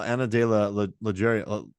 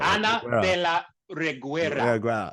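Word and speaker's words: Ana de la Reguera: Like, I don't know, Anna de la Reguera. I just messed up her name. I even learned how to pronounce that. Anna de la Reguera.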